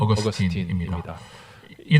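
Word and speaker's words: Augustine: 아스티누스는 우리 초기 기독교 교리 기초를 놓은 위대한 신학자인데요.이 아우스티누스가 영어 발음을 하면 어그스틴입니다.이 당시에는 라틴를 썼기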